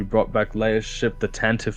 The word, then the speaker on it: Tantive: Tantive?